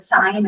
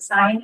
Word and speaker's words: sign: Same with um you know students struggle to remember that the there's a silent G in the word sign and sometimes the G